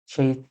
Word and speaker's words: ث: একদম ক্ষীণ আওয়াজ হবে। সা। এই হরফের উচ্চারণটা ইংরেজি কিংবা বাংলা ভাষায় নেই। সেজন্যে এই হরফটা একটু এক্সেপশনাল।